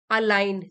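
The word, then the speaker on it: align: difficult और अनप्लज़ेंट situation अलाइन जी silent है अलाइन मतलब मेल खाना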